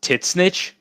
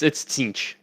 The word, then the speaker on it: Tzeentch: you pronounce Tzeentch is Titsnitch. What the fuck? Yeah, that's not how you pronounce it. It's Tzeentch. How did anyone convince anyone to pronounce Titsnitch?